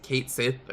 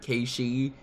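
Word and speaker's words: Cait Sith: Chocobo Cactar Ki who they've despite that being the correct pronunciation and everyone argued if it was Kate Sith or Ki, the remake apparently went with Kate Sith, which is wrong because it's Gaelic.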